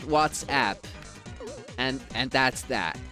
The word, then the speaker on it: WhatsApp: It's exactly the same thing as WhatsApp trying to tell people to pronounce it what's up. No, if you want your app to be called What's Up, name it What's Up. It's called WhatsApp.